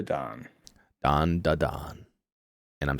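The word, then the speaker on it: Dandadan: in to Don D Don Don D Don don da don and I'm saying it right this time or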